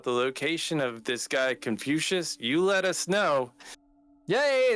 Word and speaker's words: Confucius: Or Confucus or whatever the guy's name is. I don't know the guy's name. Confu. I don't, how do you say it? You're right. It's Confucius.